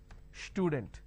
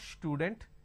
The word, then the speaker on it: student: For example, if I have the word which is student, a lot of people make a mistake and they pronounce this with a sh. Student. It's not student, it is student.